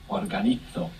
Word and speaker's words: organizo: Mention for anybody trying to keep up with the Spanish pronunciation, that Z there is going to be pronounced th. Organizo in Spain.